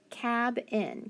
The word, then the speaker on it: cabin: it's going to be short ab cab in cabin does that sound better yes remember we can always